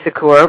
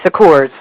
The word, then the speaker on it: Secours: relatives or not it's the SS silent if you say it in the purely French with the French accent I say Sakura but I have family members it's a sucker's so you were right